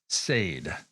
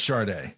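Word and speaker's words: Sade: Second of all, Dave, I'm pretty sure it's pronounced sad. Really? No, I'm not. Uh, it's Chararda.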